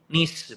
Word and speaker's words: niche: Nah, CBD yang tengah itu, nah nanti yang masuk situ juga termasuk salah satu niche, bro. Niche Oh, atau nice lah iya, bacanya ya nice seperti ya.